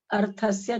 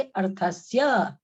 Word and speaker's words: अर्थस्य: दूसरी चीज अर्थस्य, इस तरह का जो शब्द आता है उसमें बाद के अक्षर को पूरा उच्चारण करना चाहिए, क्योंकि उसमें स्वर मिला हुआ है। अर्थस्य नहीं कह के अर्थस्य, अर्थस्य।